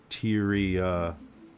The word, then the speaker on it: Tyia: Um, Tyia. Hysteria.